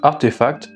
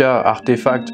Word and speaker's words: RTFKT: on va parler de rtf cas qui se prononce artefacts puisque récemment nike a racheté cette société ares tfk artefacts c'est une start up qui